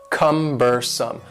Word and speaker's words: cumbersome: next word is cumbersome the word cumbersome has three syllables and the stress is on the first syllable cumbersome cumbersome and something that is